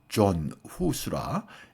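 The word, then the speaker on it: Jan Hus: 모라비아는 누토의 종교계혁 이전의 개혁자이고 순교자인 얀 후스를 추정하던 사람들로 보에미안 지방에서 자생한 개신 교도들을 말합니다. 얀 후수는 흔히 존수라 영어식으로 발음하기도 하고 보에미안 지방은 지금의 체코 언저리를 말합니다.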